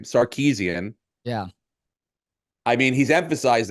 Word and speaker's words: Sarkisian: Sarkisian.